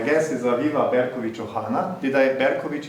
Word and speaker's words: Berkovich: Berkovich, is that okay pronunciation? Because that's how Slavic people would say the ch.